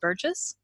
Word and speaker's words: Burgess: and today on the line I have Tim Burgess I think I pronounced that I didn't ask how to pronounce it is it Burgess that's yeah that's correct okay and Tim you're